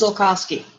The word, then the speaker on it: Zulkosky: It is pronounced Zulkosky.